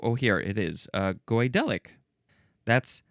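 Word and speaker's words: Goidelic: Number two of relating to or constituting the godelic speech of the Kelts in Ireland, the aisle of man, and the Scottish Highlands.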